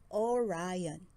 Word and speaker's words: Orion: The Hunter's name is Orion. You say it like this, Orion.